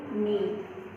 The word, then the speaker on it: knee: First picture हमें दिया है नी, मीन्स जो घुटने होते हैं वो, उसका स्पेलिंग है KNEE नी।